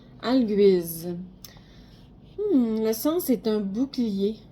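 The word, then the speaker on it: Algiz: Ah, en fait, on la prononce Alguise. Alguise.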